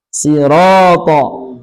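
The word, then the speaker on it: صراط: Ada yang bilangnya pakai sid, bilangnya pakai shad juga boleh. Tapi kita mengupayakan pakai shad karena riwayatnya kita pakai shad. Sirata. Setelah tiga huruf yang tebal ini ketemu lam tipis. Qol.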